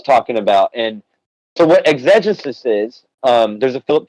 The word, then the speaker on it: exegesis: And I think you are pronouncing it correctly. I think it is exegesis. I hate that pronunciation, so I'm just going to say exegesis because that's my own personal.